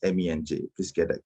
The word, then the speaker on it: Menj: way uh mr eidomir my name is not pronounced mensch it's pronounced me and j please get that correct